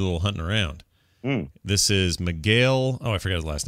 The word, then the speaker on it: Miguel: Miguel, not Miguel. I was going to say Mick Gale.